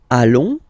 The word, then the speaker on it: allons: Nous allons, okay? And if you, so final S not pronounced.